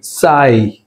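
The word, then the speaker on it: sigh: సాయి, సాయి జిహెచ్ silent.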